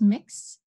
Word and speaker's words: Mx: MX is a newer form of address, and it is pronounced mix, and mix is gender neutral.